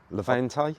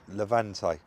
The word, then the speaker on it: Levante: Levante? Levante.